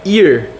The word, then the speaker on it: ear: E não é a, é ear.